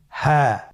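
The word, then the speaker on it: هاء: হ্যাঁ। হ্যাঁ। হা হরফটি উচ্চারণ ক্ষেত্রে অবশ্যই বারিক হবে এবং 1 আলিফ টেনে পড়তে হবে। আপনারা আমার সাথে বলুন হ্যাঁ। হ্যাঁ। হরফটি উচ্চারণের স্থান কণ্ঠনালীর শুরু হতে, অথবা আমরা যদি আরবিতে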